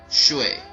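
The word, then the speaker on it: 水: The 5 faces are Mu, or wood, Huo, or fire, Tu, earth, Ting, metal, and Shui, or water.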